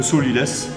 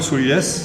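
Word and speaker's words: sot-l'y-laisse: Il y a 2 morceaux de chaque côté de la carcasse du poulet, ce qu'on appelle le solilès. Alors pourquoi le solilès? Ça s'écrit S-O-T, plus loin L, apostrophe Y, laisse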